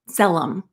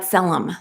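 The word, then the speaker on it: tzelem: of the creator so we can awaken the zellum it's spelled t-z-e-l-e-m so that we can awaken that's that selem the power within in hebrew the word selem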